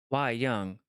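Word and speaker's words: wayang: we young means puppet let's see what how to pronounce it why why why why young okay so why why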